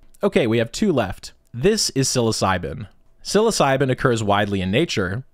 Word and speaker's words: psilocybin: right into s tier even though psilocybin sounds like it starts with an S it doesn't it starts with a P so uh yeah English language thank you for silent letters that's not super helpful